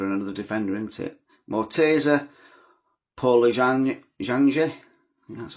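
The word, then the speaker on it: Morteza Pouraliganji: Mortasa Paul Jang, that's how you say it.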